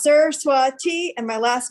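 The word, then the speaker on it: Saraswati: for hennepin county attorney my name is pronounced sir swati and my last name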